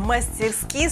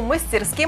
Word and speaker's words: мастерски: в свой лексикон кстати словарь трудностей русского языка розенталь найти ленкова и отдает предпочтение традиционной норме мастерски сопровождаю вариант мастерски пометкой разговорная вот так вот а теперь